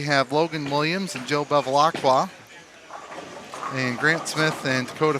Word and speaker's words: Bevilacqua: Barbecue is also an acceptable pronunciation. Barbecue. That's the first thing he told me. Is like, if you can't say it, just say barbecue.